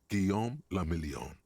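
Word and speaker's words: Guillaume Le Million: Giam Lamelon. If it doesn't rhyme, you're not pronouncing it right.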